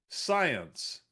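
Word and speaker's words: Psyence: This company's name is Science. But but they're messing with my head because it's spelled P S Y N C E. Science like psychology but science.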